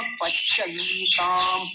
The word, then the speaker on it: पच्यन्ताम: ओषधयः पच्यन्ताम, पच्य, पच, पच, च आधा है, पच्यन्ताम, पच्यन्ताम।